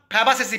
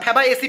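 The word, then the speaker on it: Fabaceae: তাহলে যদি পরীক্ষায় তোমরা পড়ে গেছো যে দাদা প্রশ্নটা দিয়েছিল মিমোসইডি, ওখানে অপশানে গিয়ে আর মিমোসইডি পাচ্ছ না, ফ্যাবাসেসি পেয়েছো, ঠিক আছে, ফ্যাবাএসি পেয়েছো, সরি ভুল বললাম প্রোনাউন্সিয়েশনটা।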